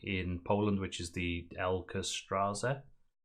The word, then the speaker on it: Ekstraklasa: But in 2009, they had to drop out of the top league in Poland, which is the Ekstraklasa. How do you pronounce it? This one. Ekstraklasa.